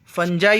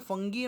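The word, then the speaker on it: fungi: पहला तो बैक्टीरिया होता है, फंजाई होता है. देखिए स्टूडेंट, फंगी मत बोलना, उसे फंजाई बोलते हैं. प्रोनाउंसिएशन आपको क्लियर करना है, फंगी मत बोलना, फंजाई बोलते हैं हम उसको, प्रोटोजोआ एंड एल्गी।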